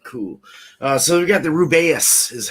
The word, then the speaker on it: Rubaeus: So we got the Rubaeus is how they pronounce it.